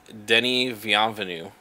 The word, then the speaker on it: Denis Villeneuve: Actually, I'm gonna give you pronunciations before you read the name. It's Denis Villeneuve.